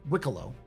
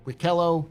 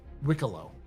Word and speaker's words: Wikelo: By the way, it's pronounced Wikelo. Not Wikelo, not Wikalo, it's Wikelo is how you say it, according to the guy whose missions always break.